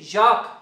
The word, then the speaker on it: Jacques: anastasia no nine okay my name is jacques okay it rhymes with coke get the [ __